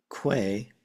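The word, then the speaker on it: 쾌: Kwe by itself, this is the Wiktionary entry for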